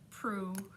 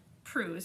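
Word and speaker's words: Proux: it azula stop okay her name is suzanne pruse how she says it but on instagram she's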